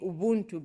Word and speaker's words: Ubuntu: In my language, we say Ubuntu because the B is silent, which says I am because you are, because we are.